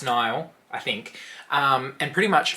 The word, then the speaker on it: Nil: I believe, like it's spelled N-I-L, but I'm pretty sure it's pronounced Nile, I think.